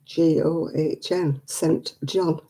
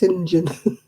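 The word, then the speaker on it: St John: that what about syndrome it's s-t-g-o-h-n sent john but it's not it's pronounced sinjin that's a good old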